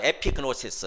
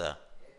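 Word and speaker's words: ἐπίγνωσις: 제대로 알라 이렇게 제목으로 바꿨는데 한번 따라서 해볼까요 에피그노시스 에피그노시스 다시 에피그노시스 피스네 시스란 말이 뭐냐면은 지식이란 뜻이에요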